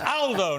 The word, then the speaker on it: Aldo: picked me up but it's Aldo not older Aldo's a very British pronunciation in Italian uh good to see